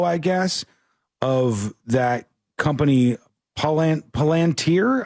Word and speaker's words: Palantir: guess, of that company, Palantir, I think is how you say it.